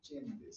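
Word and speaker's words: Csendes: Entonces, esa cirugía se llama cirugía de Chendes. Se escribe cirugía CTENDES.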